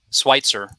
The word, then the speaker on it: Switzer: Did I pronounce that Switzer. correctly? Switzer.